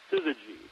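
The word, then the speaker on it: syzygy: Uh sometimes they're they're actually fused together in what's called a sizzy, which is a word that I had only seen a couple of times uh because I play Scrabble.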